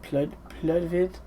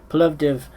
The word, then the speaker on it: Plovdiv: I heard the live in, was it Pludvid?